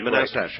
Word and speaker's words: Manastash: All right, how do you pronounce the name of your town, Manastash? Manastash. Manastash, right.